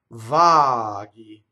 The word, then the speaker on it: vaghi: Vaghi. So GHI is G. GI would be G. Right? So Vaghi. The H is just there to make the G hard because the I is a soft consonant.